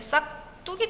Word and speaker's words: 싹둑: 우리 발음할 때 정말 자연스럽게 싹 뚝이 됩니다.